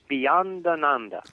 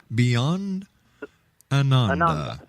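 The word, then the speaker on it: Beyondananda: pleasure Steve uh once again how do you pronounce the name of your altero Beyond Ananda Beyond Ananda Anand a lot all the swamis have Ananda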